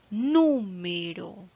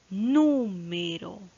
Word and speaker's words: número: Número. Número. Ya, en este caso, la mayor fuerza de voz está, a ver, última, penúltima, antepenúltima sílaba.